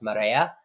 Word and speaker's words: Marea: of the co-founders of it's actually pronounced Mara which means it's Spanish for the tide it's good for a